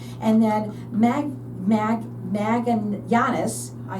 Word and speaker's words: Magallanes: And then Magallanes, I said it right.